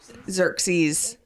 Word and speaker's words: Xerxes: Xerxes.